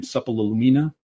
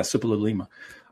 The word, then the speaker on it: Suppiluliuma: So are you familiar with the correspondence between, I can never pronounce his name, Suppalumina, how you pronounce it, the stupid name. Not Suppiluliuma. stupid, but yeah, Suppiluliuma.